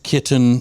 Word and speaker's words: kitten: Kitten is one. And you have to say it like you stress the T. Kitten. Kitten.